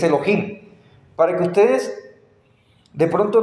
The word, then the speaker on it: Elohim: es la palabra Elohim eso se pronuncia incluso vamos a ver su pronunciación vamos a confirmar que sí es que si es Elohim para que ustedes de